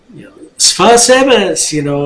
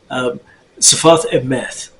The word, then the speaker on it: Sfat Emet: Sfas Emes, okay, well, that's the Ashkenazi pronunciation. Sfat Emet is how it should be said, but not important.